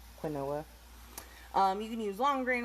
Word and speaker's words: quinoa: do that fun tip i used to call it quinoa because how it's spelled see quinoa you can use long